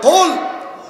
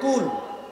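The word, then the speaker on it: قل: নাম হলো সূরা ইখলাস, কুল হুয়াল্লাহ সূরা। আমার দিকে তাকান, এই যে কুল হুয়াল্লাহ সূরা, একটা হচ্ছে কাফ আরেকটা হচ্ছে কফ, একটা হচ্ছে কাফ, আরেকটা কফ। কুল মোটা করে হবে কুল, হে নবী আপনি বলুন আল্লাহ একক একক।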